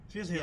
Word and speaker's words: Phil Hill: Phil Hill. Yes, it rhymes.